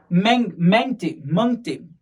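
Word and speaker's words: Mangte: मंगते Is it मंगते? Okay, Hindi में pronounce करेंगे तो मंगते होगा, पर ये हिंदी नाम नहीं है।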